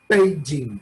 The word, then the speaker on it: Beijing: Beijing, pronuncian casi con P los chinos, es muy curioso.